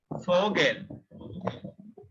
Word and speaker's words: Vogel: Next one is Vogel.